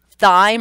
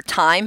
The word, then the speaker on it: thyme: So we're spelling it as with a U-Y, guy, die with a Y-E, thyme or time, however you pronounce it, with just a Y, high with just an I, either.